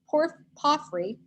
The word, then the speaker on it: porphyry: There were couches of gold and silver on a mosaic pavement of porphyry. Doesn't have an R in it in the pronunciation, surprised me.